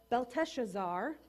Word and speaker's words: Belteshazzar: And so this young man named Daniel now has to respond to Belteshazzar.